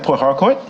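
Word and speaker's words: Port Harcourt: it is located in Port hardcour okay I'm trying to get good on my pronunciation because I understand I put a bit more emphasis on the r than most do here sport hard court uh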